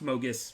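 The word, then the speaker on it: Mogis: under one because it's obviously actually pronounced Mogus's favor, but I call it Mogi's favor.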